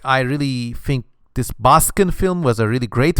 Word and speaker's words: Baskin: local horror film called Baskin it's spelled b-a-s-k-i-n-n-baskin like in Baskin Robbins and well long story